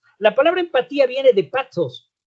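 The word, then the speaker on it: πάθος: La palabra empatía viene de pathos. La T y la H nosotros la usamos la H muda y decimos pathos. En griego sería pathos, como en TD en inglés, como bueno, pathos. ¿Y qué significa la palabra pathos?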